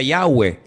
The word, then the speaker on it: Yahweh: Ese nombre se pronuncia Yahweh.